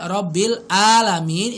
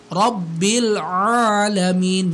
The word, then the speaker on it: Rabbil Alamin: Nah, jadi bacanya jangan sampai Robbil Alamin itu ngerubah ain menjadi hamzah. Harusnya gimana? Harusnya Alhamdulillahi Rabbil Alamin.